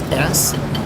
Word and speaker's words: Steinfeld: That's spelled like Jerry Seinfeld with the T, so it's Steinfeld.